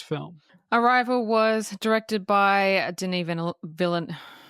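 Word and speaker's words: Denis Villeneuve: us through this film arrival was directed by Den V villain say his name say his name say his name Deni venu he's French Canadian thank you thank you it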